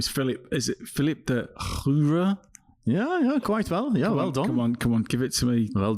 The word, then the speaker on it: Filip De Groeve: Is it Filip De Groeve? Yeah, quite well. Yeah, well done. Come on, give it to me. Well done, Filip De Groeve, indeed.